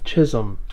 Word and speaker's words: Chisholm: Chisholm. It rhymes with Jism.